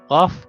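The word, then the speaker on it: قاف: Okay, and then we have also the qaf, qaf, which pronounce qa, qa, qa, qa, qa, qa, qa.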